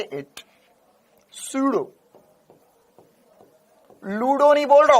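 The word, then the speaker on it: pseudo: ना अब प से अब सर प से शुरू तो यह तो पीडो फोर्स हो गया पी प साइलेंट है इसमें प साइलेंट है ना तो s से बोलेंगे सूडो फोर्स लेकिन लगेंगे p से तो सूडो फोर्स कहलाता है तो यह हो गया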